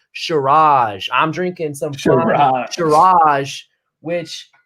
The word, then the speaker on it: Shiraz: I had to look up how to pronounce that. It's Shiraz.